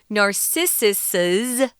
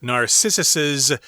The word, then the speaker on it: Narcissus's: we pronounce this as Narcissus's good looks and athletic body. That's a lot of S sound. Sorry about that. Hard to say, indeed. Yeah. But yeah, they liked his good looks and Narcissus's athletic body.